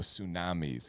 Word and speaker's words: tsunamis: San Diego Tsunamis, even though it's spelled with a T, it Ugh, still works.